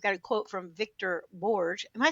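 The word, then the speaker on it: Borge: about how you've got a quote from Victor Bourge. Am I saying his name right? How do you say his name? Bour. Yeah. Borg.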